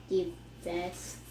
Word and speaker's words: divest: Divest. So die. So when we see that DI, it's usually pronounced die.